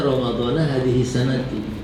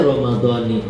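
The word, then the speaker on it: رمضان: dulu saya juga bacanya ramadana Padahal ramadan memang adalah isim mamn minf. Dia itu kalau majrur tetap na dibacanya. Tapi karena dia diidofahkan dengan hadhi sanati jadi dia ramadani.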